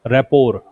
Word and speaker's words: rapport: रैपोर, रैपोर्ट नहीं है, रैपोर। टी का उच्चारण इसमें नहीं करते हैं हम।